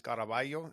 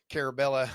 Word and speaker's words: Caraballo: My last name is Caraballo, and it was very hard for a lot of people to pronounce. So Caraballo. whenever I'm out in public, yeah, you got it. Yeah, yeah. But a lot of people, especially living in the Midwest, I get like, Carabella, stuff like that.